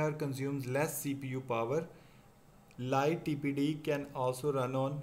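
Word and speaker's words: lighttpd: फिर बात करेंगे लाइट TPD के बारे में। लाइट TPD pronounce as लाइटी is also a free web server that is distributed with the free BSD operating system.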